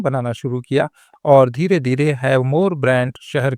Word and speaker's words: Havmor: यही नाम बाद में बदलकर थोड़ा सा परिवर्तित हुआ और इसकी स्पेलिंग बदली एच ए वी एम ओ आर। उच्चारण वही रहा हैव मोर।